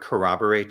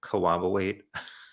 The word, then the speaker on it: corroborate: with murder sheet and he said the word corroborate a few times but people thought he's pronounced it cooperate maybe he can work